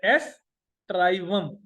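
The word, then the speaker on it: aestivum: Wheat, Triticum एस्ट्राइवम, Triticum एस्ट्राइवम, Triticum Triticum, S ई ए ई एस, एस ट्राइवम, एस ई को बेशक silent पर ए एस बोल, एस्ट्राइवम।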